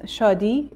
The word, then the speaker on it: Shadi: to be clear yes uh the name is Shi and Shi means joy in Persian so in farc uh uh happiness SL jooy is a meaning of shi but I know that also in different languages